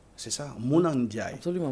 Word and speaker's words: Mouna Ndiaye: Donc, bien prononcé. C'est ça, Mouna Ndiaye. Absolument, Mouna Ndiaye.